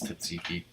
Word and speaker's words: tzatziki: For the chicken gyros, it says instead of Satsuki, Tzatziki, however you pronounce it, I think it's Tzatziki.